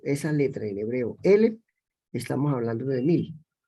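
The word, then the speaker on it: אֶלֶף: Pero el 1000 es la misma letra, pero se pronuncia Elef. Es decir, que cuando nosotros pronunciamos esa letra en hebreo, Elef, estamos hablando de 1000.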